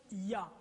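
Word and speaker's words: יה: YHWH et la translitération les deux premières parties YH se prononce ya maintenant ce qui se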